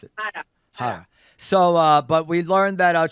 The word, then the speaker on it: Harra: How do you pronounce it? Hara.